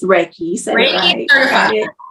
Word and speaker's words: Reiki: like a specialty but is it am I pronouncing it right it's called Reiki or right yes yes Reiki um and so that's where the merging of